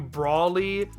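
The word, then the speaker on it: Broly: Well, I guess technically you could argue for shifting to the actual vowel sound in broccoli, which would give you Broli, but I don't think anyone ever advocates for that pronunciation.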